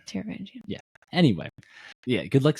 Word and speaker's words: Taravangian: No, it's Taravangian. Taravangian.